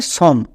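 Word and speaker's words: some: স এর উচ্চারণটা দাড়াবে সম। কিন্তু আমরা সম উচ্চারণ করি না। এখানেই ভুল করি। তাই আমাদের রিডিং ভুল হয়ে যায়। কারণ আমরা এই সাইট ওয়ার্ডস গুলো জানি না। এই সাইট ওয়ার্ডস এর উচ্চারণটা হবে সাম।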